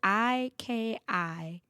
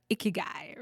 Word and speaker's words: ikigai: I have such, like, it's spelled Ikigai. It took me forever. Ikigai, right?